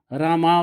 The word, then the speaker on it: राम: अलग अलग और अवतार, इन सभी शब्दों के अंत में आकार है और भगवान शब्द के अंत में आकार नहीं है, लेकिन उच्चारण करते समय यह अंतिम आकार मूक रह जाता है, अर्थात हम इसका उच्चारण नहीं करते।